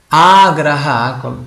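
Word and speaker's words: āgraha: Agraha, quando si pronuncia con la A iniziale lunga, significa fretta, significa impazienza, una persona frettolosa, impaziente.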